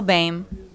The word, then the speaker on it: Bame: For anybody who didn't see it, Kyle Bame. It looks like it's spelled Boehm, but Yeah, it's Bame.